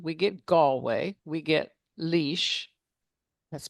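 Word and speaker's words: Laois: get Galway, we get Leash, that's pronounced leash, you know, L A O S. I you and I would not pronounce it leash, but that's what it is.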